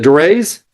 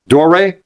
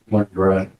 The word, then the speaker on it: Dorey: Yeah, let me just set that William, is it Dorais? How do you say the name? Doray? Like there's no S on the end. Go ahead, counsel. Dorey.